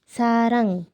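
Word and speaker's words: 사랑: অর্থ কি সা রা সারাং এটা যখন নিচে চলে এসেছে তখন সেটা উচ্চারণ হয়ে গেল এনজি এর মত অর্থাৎ অনুস্বারের মত সারাং সারাং তারপরে আরেকটা উদাহরণ আমি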